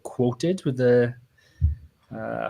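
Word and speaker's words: Qwoted: talking about like a horror alternative platform called quoted with the uh how it's spelled yeah quoted q-w-o-t-e-d and it's kind of like Haro but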